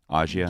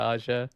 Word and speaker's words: Ağca: Is that how you would say his name generally? Aza. Yeah, at least that's the last name. Yeah, Aza.